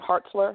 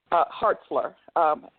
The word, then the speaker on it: Hartzler: a female senator named Hartzler out of Missouri. She rallied several people. Hartzler, Hartzler, I believe, is how it's pronounced, spelled.